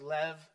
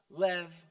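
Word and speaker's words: לב: e b is pronounced Lev a b in Hebrew is V Lev Lev and it means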